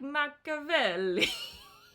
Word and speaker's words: Machiavelli: Machiavelli. If I'm speaking Italian, which I studied in college forever ago, it would be like Machiavelli.